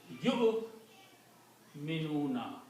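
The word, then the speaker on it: يُؤْمِنُونَ: You minuna. Do not pronounce wow. The waw is not pronounced because of the hamza.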